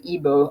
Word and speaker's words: Igbo: largest group is the igbo uh the g is silent important that you remember